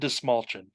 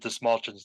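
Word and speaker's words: Dastmalchian: big fan of David Dismalchin. It's mulching. See, in my defense, when you see that dude's name Yeah. typed out, it doesn't look like it would be pronounced that way.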